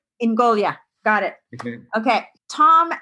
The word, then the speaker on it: Ingogia: too Tom I AP it's Sicilian so it's in goolia in goolia got it okay okay